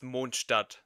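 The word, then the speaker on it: Mondstadt: and it's technically German, so it's actually pron pronounced monadat.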